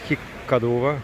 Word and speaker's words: Хиккадува: мы по-прежнему шри-ланке хиккадуве как местные говорят хиккадува на этот на финский манер у них это произношение